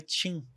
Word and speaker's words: Qin: Eles leem com Q e pronunciam errado.